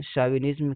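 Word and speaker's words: chauvinism: The theme of the story is linguistic शाविनिज्म, एक word आया linguistic शाविनिज्म, ये सी एच है लेकिन इसका प्रोनाउंसिएशन शाविनिज्म कहेंगे।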